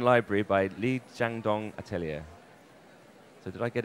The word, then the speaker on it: Li Xiaodong: category, and the winner is Liyuan Library by Li Xiaodong Atelier. So did I get it even remotely right, the pronunciation? Yeah, Li Xiaodong, that's the name in Chinese, and Liyuan Library.